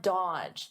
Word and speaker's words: dodge: Dodge. Notice here the D is silent. The middle D, dodge. Dodge. Dodge his calls forever.